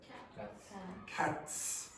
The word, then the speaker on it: cats: So for example, t is not voiced. How do you pronounce that? Cats. Okay, so I still hear people saying cat. You're not producing any sound there.